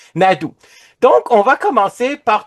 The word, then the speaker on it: Naidoo: Naidoo, merci de le prononcer. Naidoo.